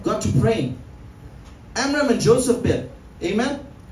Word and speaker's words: Jochebed: Amram and Jochebed, amen, or Jochebed, if you want to pronounce it like a Hebrew, saw that it was time for the word to be fulfilled.